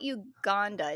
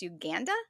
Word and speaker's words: Uganda: Uh, hey, one of our other hosts, um, and, um, Becky, she has been to, and I guess I've been saying it wrong. It's not Uganda. It's Uganda.